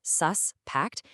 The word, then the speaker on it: suspect: Now, if you put this stress on that first syllable, suspected, it's a noun. That's the person the police are after. But watch this. If you just shift that stress to the second syllable, suspect, poof, it becomes a verb.